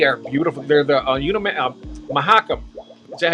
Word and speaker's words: Mahakam: that but they are beautiful they're the you mahakam is that how you pronounce that mahakam yep mahakam River wow and they are just